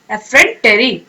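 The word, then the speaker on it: effrontery: एफ, ठीक है, फिर फ्रंट एंड फिर यहाँ पे टेरी। टेरी आप सोच ले कोई इंसान, तो ठीक है, एफ फ्रंट टेरी, ठीक है। अब आप प्रोनाउंस करें इकट्ठे इस वर्ड को, एफ्रेंटरी, ओके।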